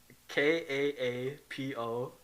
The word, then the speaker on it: Kaapo: Kaapo, and then last name Kako.